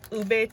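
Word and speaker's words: Hubei: And just so that you know, the turquoise that I'm showing you, I think it's all ube turquoise, which is from China, and that's spelled H-U-B-E-I.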